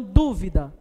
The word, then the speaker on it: dúvida: é a última então dúvida dúvida não é a última é a antepenúltima né então a gente